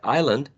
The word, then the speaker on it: island: Like for example, in words like island, the sound s is not produced even though it's spelled. The same with the word